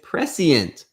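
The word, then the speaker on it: prescient: Oh, it's three syllables. Thanks P. Thanks Bye. It's precient.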